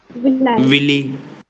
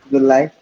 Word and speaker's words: villi: projections are known as Willy. I will write in Hindi so that you never pronounce it incorrectly. So please practice together. How should you say this? Villi. Villi.